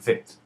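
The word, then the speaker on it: ב: A bet with a dagesh sounds like I taught you, bet, and the bet without a dagesh is pronounced with a V sound and is called vet.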